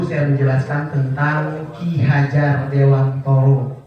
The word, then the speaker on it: Dewantara: menjelaskan tentang Ki Hajar Dewantoro. Ya, bacaannya Dewantara, tapi kalau kata istriku bacanya harus Dewantoro walaupun tulisannya Dewantara, karena itu memang dari bahasa Jawa katanya.